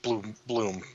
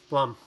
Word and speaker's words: Blum: Blum. Yeah. Jim Bloom. Blum. Blum. Blum. I say it wrong. Don't care. Say it like plum, but a B there instead of P there.